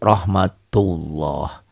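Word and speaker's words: رحمة الله: tebal tafkhim ya rohmatullah tulisannya seperti ini dibacanya beda tulisannya kan Rahmatullah dibacanya jadi rohmatullah seakan-akan ini ada w-nya ya ini Rahmatullah Bagaimana yang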